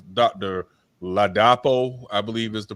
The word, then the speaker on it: Ladapo: Ladapo, I believe is the pronunciation.